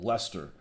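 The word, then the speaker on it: Leicester: have that you go you call Lester so you pronounce only half the letters that's just ridiculous I mean at least pronounce most of the letters I guess I should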